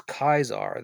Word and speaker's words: Caesar: Julius Caesar in here or as they say Julius kaisar that would have been how the Romans pronounced it and he he died